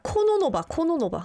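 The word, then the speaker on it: Кононова: 그러니까 코노노바. Oh, like Kornikova. No. Different.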